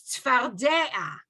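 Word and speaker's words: צְפַרְדֵּעַ: In frogs, the dalet is also the prominent one here. So it's tzfardea, right?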